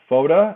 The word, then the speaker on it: Fotta: nick villagra and andrew foda it rhymes with yoda that's how i remember